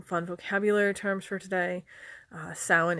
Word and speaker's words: Samhain: Samhain is the most common Irish pronunciation for it. It is different in Scottish Gaelic. I believe they do Samhain. They do the V for the MH instead of the W.